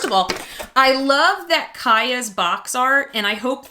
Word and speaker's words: Kia: it and so kaya even though it's spelt like my car kia it is pronounced kaya kaya is the matchmaker